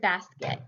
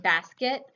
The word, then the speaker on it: basket: even in the word basket you can hear the second syllable and basket it's unaccented and so the vowel isn't pronounced as clearly so we get kind